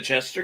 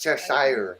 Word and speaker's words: Cheshire: do you mean the Chester cat style was the lead playing Cat in the Hat it's pronounced Cheshire Cat probably later after Mom